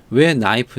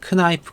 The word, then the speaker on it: knife: 'knife' 는 왜 ' k-nife' 가 아니라 'knife' 로 발음 될 까 요 ?